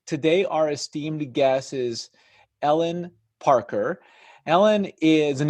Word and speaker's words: Helene: can learn more about Ellen at her website which I'll I'll say it phonetically Helene Parker comm H is silent or you can go to programmatic digest comm hey everyone my name is Ellen Parker I am a